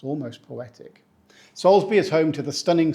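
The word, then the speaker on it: Salisbury: also famous pronounced correctly we say Salsbury we do not say salisb or sabur the L and Zed sneak in there somehow uh and the bur becomes Bri just remember soulsbury it's almost poetic Salsbury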